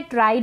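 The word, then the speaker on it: tried: हैं described next है ट्राइड इसको ट्रिड नहीं पढ़े ट्राइड यहां पर टी आर को ट्र पढ़ रहे हैं और इस आई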